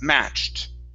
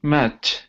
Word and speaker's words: matched: the victim match okay now add a t sound here so you are you're ending the word right there you're saying match but we have an ed right here the Ed sounds like a t so it's match matched